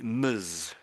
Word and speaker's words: Ms: So, so, so MS and then to, so to pronounce this, I would say, so I would say muzz muzz for this here.